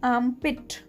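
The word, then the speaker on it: armpit: इसमें R जो है वो बहुत ही कम प्रोनाउंस होगा, तो इसे कहेंगे आर्मपिट।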